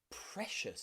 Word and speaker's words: precious: This can also be a way that we pronounce the letter C. Think about words like ocean, ocean, or financial, or precious, Special.